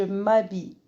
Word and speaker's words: m'habille: Regardez le H prononce pas. Je dis je m'habille.